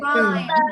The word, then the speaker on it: rhyme: Which is the silent letter in rhyme?